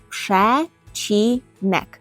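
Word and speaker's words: przecinek: - це кома і кома по-польську пшечинек пшечнек пшечнек пам'ятаємо що букво сполучення ц і перекладає точніше ви ємо як ч пшечник бо він ніби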